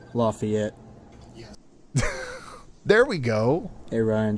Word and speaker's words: Lafayette: Just wanted to let you know it's pronounced Lafayette. Lafayette.